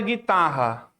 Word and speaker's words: guitarra: Se eu pego a palavra guitarra. Guitarra. A palavra guitarra tem 2 dígrafos. O GU e o RR.